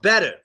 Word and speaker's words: better: So you have, when there's two T's followed by an ER, it always gets a D sound. So you have better.